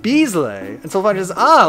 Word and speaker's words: Bizzle: Dizzle diesel diesel uh regular says no it's pronounced Beasley and so far is ah like Michael Buble